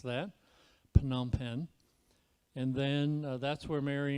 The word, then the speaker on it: Phnom Penh: it phnom penh and that is a ph a hard sound so if you're wondering how to pronounce that phnom penh and then that's where